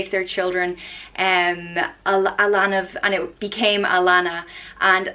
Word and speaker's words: Alanna: the next name is Alanna and is pronounced ah lon ah so very easy to pronounce and Alanna can mean beauty or